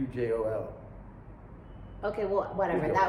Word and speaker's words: Pujol: But I think I pronounced it wrong. Pujulo? Julio. It's Pujlo. No, How was it spelled I think then? it's Pujol.